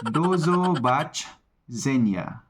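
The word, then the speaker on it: do zobaczenia: sunod na pag-uusapan natin ay see you Ay dozo b senya dozo b senya Paano ba yun dozo Bach zenya yun para Mas malinaw galing so nakakailan na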